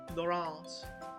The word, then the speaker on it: Laurence: saw Lawrence Anyways, or it was a French movie, and they pronounced it Laurence.